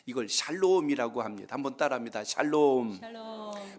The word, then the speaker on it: 샬롬: 샬롬이라는 한번 따라합니다 샬롬 샬롬 발음을 잘 하셔야 돼요 잘못하면 욕인 줄 알아 살롬이들을 수가 있는데 죽일 놈보다 낫긴 하지만 그 뜻은 아니고요 단어